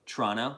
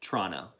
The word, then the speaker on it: Toronto: Toronto, that's how you say it. Pete and the guys taught me. Toronto.